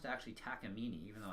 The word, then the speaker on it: Takamine: as the Takamine ins and yes it is pronounced to actually tack emini even though its spelt Takamine it's pronounced Takamine